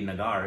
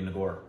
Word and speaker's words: Nagar: well I Bengali because it wouldn't be nagar it would be nagor okay yeah there's more